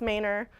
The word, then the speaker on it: Manor: now known as mayor it's spelled Manor it's pronounced mayor I'm sorry I don't